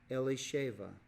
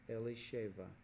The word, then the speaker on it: Elisheva: Elsa Fong and XIII and Aaron took him Elisheva is how you say that Elisheva which in England English would be Elizabeth okay Elizabeth is actually a Hebrew name and it's pronounced Elisheva and le shaiva was a Judah I'd ironically